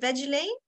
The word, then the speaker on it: Veggilaine: you wearing the veggie is that how you pronounce it veggie Lane yes where's Elaine okay so the I read